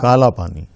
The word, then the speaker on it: काल पानी: हो गया काल पानी काला पानी काला पानी नहीं काल पानी हा संधि विच्छेद करें तो काल पानी अंग्रेजों का उच्चारण में काला पानी हो गया तो पूरा काला पानी नाम ही चल गया नाम ही चल